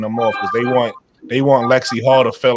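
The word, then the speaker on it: Lexie Hull: Lexi Hall.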